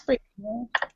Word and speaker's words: Brianna: Brianna, how do you say it? That's Brianna. Brianna.